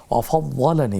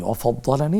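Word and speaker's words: وَفَضَّلَنِي: আফানি মিম্মা বতালাকা বিহি ওয়াফাদ্দালানি, ওয়াফাদ্দালানি এটা ডাবল উচ্চারণ হবে, আলা কাসীরিম মিম্মান খালাকা তাফদীলা।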